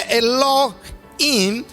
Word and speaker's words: Elohim: La expresión ahí Dios es Elohim, que se pronuncia Elohim, que Elohe viene siendo la expresión Dios, y